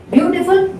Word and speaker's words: beautiful: Beautiful, beautiful, 3 syllable word. Even then, the stress is on the first syllable only.